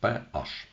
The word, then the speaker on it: pH: кількісно характеризують водними показником водневий показник PH вимовляється саме PH він пов'язаний цей pH